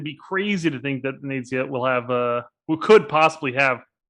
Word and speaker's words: Venezia: So I'm going to stick to Venezia without the emphasis on the Z.